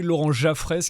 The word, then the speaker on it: Laurent Jaffrès: J'ai bien prononcé, Laurent Jaffrès.